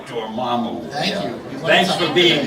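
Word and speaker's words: Dormammu: just saying the name now you know how it's pronounced I never knew that was the pronunciation Damu thank you thanks for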